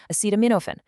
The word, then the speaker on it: acetaminophen: For pain, the recommended protocol is taking two extra strength Tylenol, which is acetaminophen, pronounced acetaminophen, along with one to two ibuprofen, like Advil or Motrin.